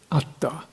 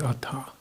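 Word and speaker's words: attha: Fashion steer desire towards ATA not towards ATA but towards ATA it's good to get the pronunciation right ATA is goal purpose welfare ATA is self at you know work on pronunciation the parata the highest welfare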